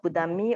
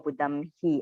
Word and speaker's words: Buddhamhi: Okay, you either pronounce Buddhammi or Buddhamhi according to Sri Lankan way.